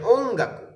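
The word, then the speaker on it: 音楽: ওঙ্গাকু ওঙ্গাকু ওনগাকু, বাট উচ্চারণ শোনা যায় ওঙ্গাকু।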